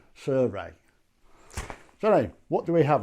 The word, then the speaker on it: Sirui: i so really nice surui or that but apparently it's actually pronounced suray so what do we